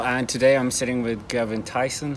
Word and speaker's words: Gerben Thijssen: day exra Channel and today I'm sitting with gin Tyson how do you pronounce it correctly that was uh actually correct